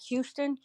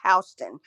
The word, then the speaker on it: Houston: It's spelled just like Houston. We don't pronounce it Houston.